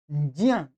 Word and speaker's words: ज्ञान: ज्ञान ऐसा ज्ञान और कुछ लोग बोलते हैं इसको ज्ञान ये दोनों ही गलत है सही क्या है ज्ञान ज्ञान ज्ञान म ज्ञानम ज्ञानी वाला ज ठीक है तो ध्यान देंगे ज ञ का उच्चारण मिलाकर के जो बनेगा वो बन जाएगा ज्ञ ठीक है तो इस पर उच्चारण का ध्यान देंगे तो सही हो जाएगा पुस्तकम पुस्तकम माने पुस्तक